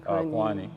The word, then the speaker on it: Kuany: of South Sudan, Kuany Kuany. Yeah. The pronunciation is Kuany, but we call Kuany, him but Kuany, yeah.